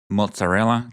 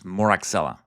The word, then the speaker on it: Moraxella: And in my times as a teacher, I had students pronounce it mozzarella catarrhalis, which is comical, but remember, it is Moraxella.